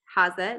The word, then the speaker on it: Hase: And you can find us at Devon and Craig Hase, Hase, or Hase is the German pronunciation.